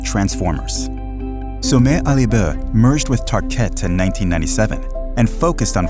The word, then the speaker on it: Tarkett: In the 1950s, they launched a new floor covering in vinyl called Tarkett. The name was chosen to rhyme with parkett, the Swedish word for parquet.